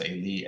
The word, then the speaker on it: Eli: It looks like Eloi, Eloi, as the Greek transliterates the Hebrew, but it's pronounced Eli, Eli.